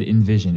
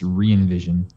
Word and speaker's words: Re:Evision: called i'm pisces and you said envision it's reinvision then why does it